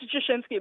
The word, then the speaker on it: Jashinsky: It's Jashinsky, but I'm not at all sensitive about the pronunciation because it's impossible.